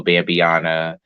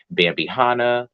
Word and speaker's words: Bambiana: guys follow bambiana um Bambi spelled like you know the deer and then Hannah like Suki Hana but it comes more so from Rihanna which I thought it was bambihana like sukihana but it was actually bambiana like Rihanna